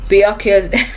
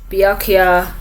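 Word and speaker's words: Byakuya: foremost i do apologize i realized i was saying biake i was calling him yukiya i i was saying his name wrong so we met captain um biakya kuchki who is uh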